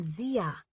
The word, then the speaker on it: Zia: corrected him absently what it's Atia and Zia it Rhymes who's ever heard of